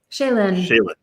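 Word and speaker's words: Chelyn: your name is uh c-h-e-l-y-n how would you pronounce that shaylan got it thank you so shaylan commented uh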